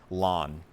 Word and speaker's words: ln: just say ln and some teachers will say lawn i i was originally in the ln camp and now over the years i just get lazy too many syllables ln so i say lawn so this is lon